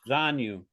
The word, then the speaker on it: Zanu: of that particular age so how do you pronounce his name again kanu Z Z zanu okay yeah that's an interesting name did you